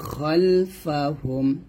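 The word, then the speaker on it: خَلْفَهُمْ: আইদিহিম আইদিহিম ওয়া মা খালফাহুম। দেখুন এখানে ওয়া মা খাল কিন্তু না, আমরা অনেকে উচ্চারণটা খাল দেখি, বাংলা উচ্চারণটা এখানে সঠিকভাবে দেওয়া আছে, খালফাহুম হবে, খালফাহুম একসাথে হবে ইয়ালামু মা বাইনা আইদিহিম ওয়া মা খালফাহুম।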